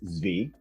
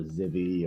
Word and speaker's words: Zvi: so uh my name's zv um the funny thing is it's actually like the israeli or the hebrew pronunciation but my great grandfather